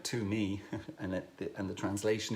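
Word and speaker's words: tumi: me is spelled t-u-m-i it sounds like to me and it and the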